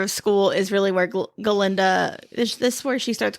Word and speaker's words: Galinda: cuz on the train he mispronounces her name and says Glenda and she's like no it's Galinda like how you're supposed to pronounce it.